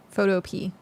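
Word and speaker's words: Photopea: Photo pee. It's just photo pe but spelled like the fruit or like not the fruit. Jeez. Ah, no. Not fruit. Uh, vegetable like a P. P E A.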